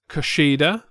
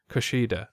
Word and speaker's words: Kushida: I guess if you're a ring announcer, then yes, you could say it like that. Then you're over pronouncing certain syllables. Kushida.